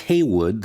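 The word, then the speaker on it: Heyward: city of Philadelphia Thomas Haywood was jerked from the deck and fell into the water pronounced Haywood though it appears a word on the Declaration that he signed he was being released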